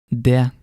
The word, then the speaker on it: det: When you see the letters ET in Norwegian, the T may be silent. And some examples of that are huset, det, uke.